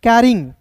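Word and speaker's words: carrying: देखिए यहाँ पर दोस्तों याद रखिएगा, CRY को क्या पढ़ते हैं दोस्तों, कराई, और CARR कैर, और Y है ING कैरिंग, क्लियर है, कराइंग नहीं पढ़ेंगे, कैरिंग।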